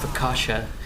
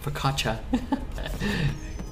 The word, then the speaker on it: focaccia: The only things Twitch chat gets more mad about than Miss Lethal are the pronunciation of Fakasha, Focaccia.